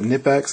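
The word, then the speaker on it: Knipex: It's a, I think you pronounce it Nipex.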